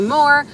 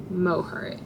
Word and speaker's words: Moher: Some say Moore, some say Mohare, but I think Mohare is the most correct.